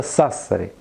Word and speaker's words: Сассари: Есть такой город в Италии, называется Сассари. Но наши люди, когда произносят это слово, нарочно переставляют ударение и говорят «Сассари».